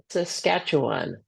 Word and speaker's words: Saskatchewan: know how to say sasat SAS I don't know how to say it sorry Saskatchewan there you go perfect Washington yeah uh